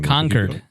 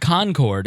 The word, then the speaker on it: Concord: liked the most was conquered New Hampshire and I was going to um pork fast pronounced it you pronounced it wrong conquered is how they say it it's not Concord it's conquered is how